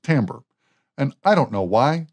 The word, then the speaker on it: timbre: time is timbre it's spelled timber but it's pronounced timbre and i don't know why the english language